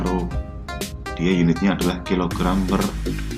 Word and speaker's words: rho: Yang keempat ada mass density, lambangnya seperti ini ya, atau dibacanya rho.